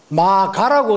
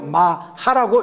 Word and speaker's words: 마하: 혹은 꾸짖을 하 이니다 그래서 마 가라고 어떤 분들은 읽는데 가로 읽는게 아니고 마 하라고 읽는다 이거죠 마 하라는 말은 산스크리트로